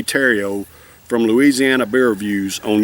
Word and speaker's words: Theriot: Terrio, T-H-E-R-I-O-T, I think is the way you pronounce, or the way you spell his name. It looked like Theriot, but it's actually Terrio.